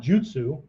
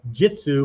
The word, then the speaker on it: jutsu: So for art forms, do, not jutsu, right? Ninjutsu, aiki jujutsu, okay? Sometimes pronounced jitsu by Westerners because the U can be clipped, right? Jutsu can become jitsu, right?